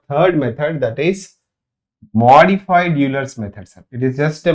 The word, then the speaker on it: Euler: Modified Euler's method. The original pronunciation is Euler, but we call it as Euler's, right?